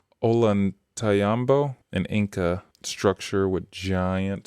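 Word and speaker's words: Ollantaytambo: How do you I've heard that one that pronounced Olantayambo, an Inca structure with giant steps, each step bigger than a person.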